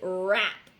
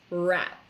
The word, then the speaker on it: wrap: silent next word is rap so again we have a w that we do not pronounce wrap wrap is when you